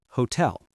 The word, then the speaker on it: hotel: And hotel. The stress is on the second syllable.